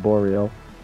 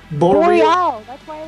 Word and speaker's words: Boreal: this a deep well it's actually hard for english people to pronounce it because it's a French word but we pronounce it boreal thank you boreal re oh yeah boreal